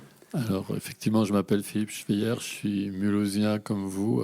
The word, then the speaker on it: Philippe Schweyer: Alors, pour commencer, Philippe Schweyer, ça, je prononce bien. Très bien, bravo. Pouvez-vous vous présenter et qui êtes-vous ? Alors, effectivement, je m'appelle Philippe Schweyer, je suis mulhousien comme vous, a priori.